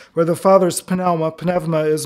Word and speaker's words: pneuma: where the Father's pneuma, my sister is Greek, and so I use modern Greek pronunciation, where the Father's pneuma is not just spirit, but, has anybody taught you this?